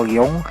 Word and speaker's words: Leon: namun jika merujuk pada namanya Leon yang dibaca Liong dari pelafalannya mungkin Dia